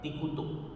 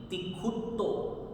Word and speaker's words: तिक्खुत्तो: और यहाँ त पर भी आधा त है, तो इन दोनों बातों पर ध्यान देते हुए, दोनों आधे अक्षरों पर ध्यान देते हुए इसकी प्रोनाउंसिएशन बनेगी तिखुतो। तिखुतो, क भी आना चाहिए और ये आधा त भी आना चाहिए।